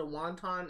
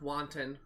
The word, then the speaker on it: wanton: ablation it was a wonton act of violence that i witnessed i think it's actually pronounced wanton act of violence that i witnessed one